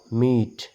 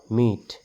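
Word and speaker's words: meet: থাকিব তাৰ কোনো সাউণ্ড নাহে ম ই ত মিট ম ই ত মিট এটো সাইলেন্ট হৈ আছে ৰ ই দ ৰিড ৰ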